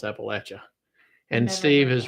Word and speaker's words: Appalachia: So that's how you pronounce Appalachia.